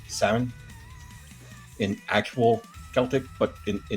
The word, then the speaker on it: Samhain: Well, actually, that's pronounced Samhain in actual Celtic, but in the show, I think they called him Samhain or Samhain.